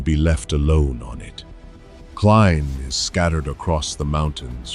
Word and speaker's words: Klein: In German, that e is a long i. Klein already sounded like Klein.